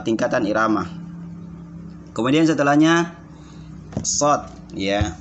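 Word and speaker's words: ص: Shod ini ada mat di atasnya, maka dibaca 6 tingkatan atau 6 irama. Cara bacanya di sini. Shod, shod, ya. Shod, ya. Harus begitu, shod. Bukan shod, shod. Salah. Jadi kalau shod itu seakan-akan dia mempunyai hamzah setelahnya, ya.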